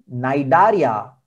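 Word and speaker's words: Cnidaria: वाला याद रखिए नाम इसका प्रनंसीएशन एंड से है नोएडा एरिया खाना की स्पेलिंग सी से है तो यह यज्ञ मैंने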